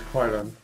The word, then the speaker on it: Kryolan: I'm going in with my, I can never say the word, Kryolan? Yeah, I've always heard it as Kryolan. I always say it like Crayola, but yeah. As in cry. Pretty much. Cryo.